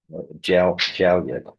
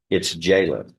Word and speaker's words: Jalen: Jalyet is the way it phonetically looks, but it's Jalen.